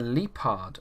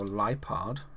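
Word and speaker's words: Liepard: viper a spirit tune a leepard v or lipard however you want to pronounce that very nice we then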